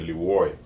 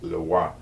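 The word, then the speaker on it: Leroy: Some people say LUCIEN because it's spelled L-E-R-O-I, but it's LUCIEN because it's in French product.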